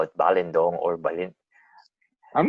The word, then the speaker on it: Balindong: It's weird because it's the lin is supposed to be the pronounced syllable, like balindong, not balindong.